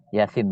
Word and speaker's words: Yasin: Yasin bacanya begitu.